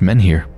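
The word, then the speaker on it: menhir: ears apparently it's pronounced men here so kind of just how it looks men here a tall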